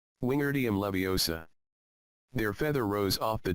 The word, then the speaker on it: Wingardium Leviosa: Wingardium Leviosa, he shouted, waving his long arms like a windmill. You're saying it wrong, Harry heard Hermione snap. It's Wingardium Leviosa, make the gar nice and long.